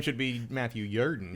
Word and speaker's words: Jordan: Spelled Jordan, but pronounced Jordan, which is actually my middle name for that reason.